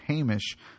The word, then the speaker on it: Hamish: Yeah, we did get a quick shout out from Hamish, who just emailed in to clarify that the correct pronunciation of his name is Hamish.